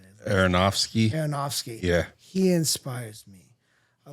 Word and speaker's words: Aronofsky: Aronofsky.